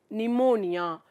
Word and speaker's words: pneumonia: Pneumonia. இங்கே வந்து P வந்து silent.